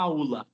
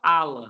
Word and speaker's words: aula: A aula. Esse u quase não aparece. Quase que você fala ala, você fala aula, aula, né?